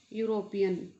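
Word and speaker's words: European: अब यहाँ देखो, ये जो वर्ड है यूरोपियन, ये शुरू तो ई से हो रहा है, लेकिन ई यहाँ साइलेंट है। अपनी जो प्रोनाउंसिएशन है य से शुरू हो रही है, यूरोपियन, तो यहाँ क्या लगाएंगे, ए।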